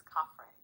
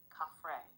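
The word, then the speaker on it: Khafre: The name is Caffrey, properly rendered as open quote, Caffrey, with the first syllable resonant in the upper throat and the second light almost like breath.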